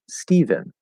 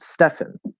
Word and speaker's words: Stephen: me because it's stefan the ph represents an f sound right but again this is